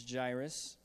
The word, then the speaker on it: Jairus: came a man named Jairus and that is pronounced correctly I did look it up it's jaress there came a man named